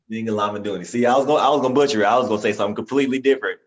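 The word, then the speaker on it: Zingalamaduni: Pronounce it for me because I feel like I'm a butcher it. Zinga Lamaduni. Zinga Lamaduni.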